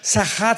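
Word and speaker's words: שחת: Esta palabra corromper es la palabra hebrea sachat con s de Samuel y ch sachat. Sahat se pronuncia que significa corrupción moral.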